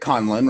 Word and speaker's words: Conlon: So when I do your intro, I pronounce it Conlon, right? Correct.